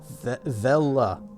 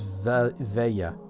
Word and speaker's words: Vela: Vela. Vela. I thought it was Veya. Ah! I thought you pronounced the L as a Y.